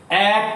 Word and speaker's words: এক: তাহলে এখানে অয়ের উচ্চারণটা বিবৃত, আর এখানে অয়ের উচ্চারণটা হচ্ছে সংবৃত। অনুরূপ ভাবে আমি তো বলি এক কথা, এক কথা বারবার বলতে নেই, তাহলে এক উচ্চারণটা করছি কিন্তু আমরা এরকম এক, তাই না?